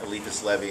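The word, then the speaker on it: Eliphas Levi: out of the way the reason that I'm pronouncing it alipus Levy is because that that's the phonetic um transliteration of alfons Louie which is his name and that's how he kind of made it into Hebrew version people can argue with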